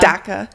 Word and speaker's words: DACA: Da I say Dhaka. Dhaka. But you can say DACA. It doesn't really matter.